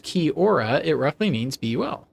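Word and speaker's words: kia ora: Um, pronounced kiora.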